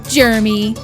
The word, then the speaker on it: Germy: by Jeremy hand sanitizer it's spelled germ why like other popular brands but we prefer to say Jeremy our chemical free liquids